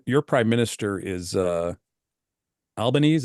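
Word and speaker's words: Albanese: prime minister is uh albanes is that how you pronounce his name yeah Al albanesi yeah albanesi I knew there was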